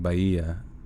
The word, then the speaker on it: Bahia: it's got to be baja baja like almost like it flows together you know what i mean by uh okay so the h is like silent pronounce it okay like bahia okay or bye oh i